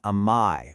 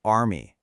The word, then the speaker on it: army: In standard British English, it's more of an amii with that soft vowel. But in American English, that R gets pronounced army.